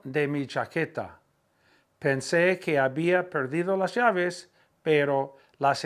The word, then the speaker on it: había: Pensé que había, H-A-B-I-A, accent on the I.